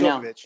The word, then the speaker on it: Djokovic: You're saying it right Djokovic.